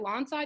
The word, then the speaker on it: Lawnside: Lawnside, New Jersey?